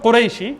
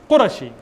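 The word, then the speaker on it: قرشي: You're not called Qurayshi, it's Qurashi. In Arabic, it's Qurashi. It's not Qurayshi.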